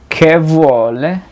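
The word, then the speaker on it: che: Se puede decir ¿qué vuole? Que se escribe CH.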